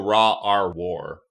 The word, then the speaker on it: rawrwar: It's also Raw R War.